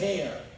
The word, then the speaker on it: heir: of kingship, who's the heir? You say heir or heir? Is that an H in here? Heir? There is an H, but you don't pronounce it.